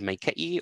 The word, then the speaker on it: maikaʻi: So you can hear, you can hear here that it's more of an e sound than an a sound.